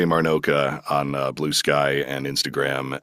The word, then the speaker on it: Marnocha: you know, and also thank you for saying Marnoka properly. I know you know how to say it, but so many people this week that I'm working with they're like Maracha, Marinot Marinero. I'm like you're adding letters.